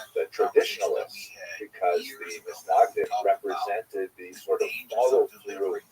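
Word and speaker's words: Mitnagdim: He is the acknowledged head of the movement known as the Mitznagdim, or the Mitznagdim, as it's Ashkenazi pronunciation.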